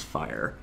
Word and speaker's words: FHIR: slowly rolling out called at hir pronounce fire I won't get into